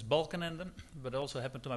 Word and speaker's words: Balkenende: can I imagine that the pronunciation of my name is a bit difficult name is Balan Ander but also happened to